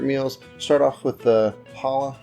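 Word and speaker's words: challah: start off with the Hala French toast so the CH didn't know that's how it pronounced when I initially made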